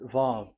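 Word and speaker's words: ו: So it's V as in Vogue. So it's really V. How to read Vogue? So the word, the shape Vav is really pronounced V, like Vogue. That is it, pronunciation. So here in this side, it's pronunciation. This is pronunciation. So according to the old Hebrew word today, those who, the owner of the words, I mean, so it's a V. So don't change it into W, and you will say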